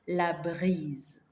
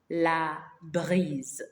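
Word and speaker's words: la brise: a walk it's called La Breeze La Breeze almost the same pronunciation as the English one but check the spelling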